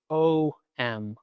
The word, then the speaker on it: Om: The most common way written down is you see O-M, Om. But in a more traditional or classical sense, you would see Om spelled out phonetically in a different way, which would be A-U-M. Ah, O, M.